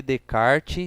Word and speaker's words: Descartes: que você fala Renê de kart sendo que tá escrito Descartes porque no francês o s só se pronuncia se ele estiver no início de uma palavra se ele tiver no